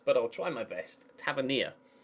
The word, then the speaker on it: Tavernier: Tavernier. That's how you pronounce it.